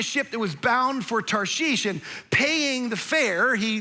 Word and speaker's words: Tarshish: this is first offense, it's not Tarsus, like that's how we grew up learning. It's not even Tars-ish, it's Tarshish, is how you say this.